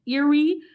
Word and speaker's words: Erie: daddy is from cleveland the lake is pronounced eerie peace out and there's